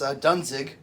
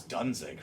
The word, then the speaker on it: Dunzig: If you like Glenn Danzig and you like my last name, you mush them together, and there you go. That's Dunzig, right? That is Dunzig.